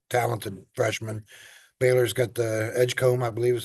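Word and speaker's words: Edgecombe: demon kid who talented freshman Baylor's got the Edgecomb I believe is how you pronounce it the um pretty highly ranked freshman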